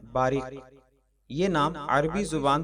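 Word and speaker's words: Bariq: शुक्रिया आज की वीडियो का पहला नाम है बारिक यह नाम अरबी जुबान से ताल्लुक रखता है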